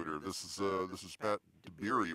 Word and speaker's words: Dabiere: This is Pat Dabiere, right? That's how I'm pronouncing it right? Yep, Dabiere, like strawberry, but Dabiere.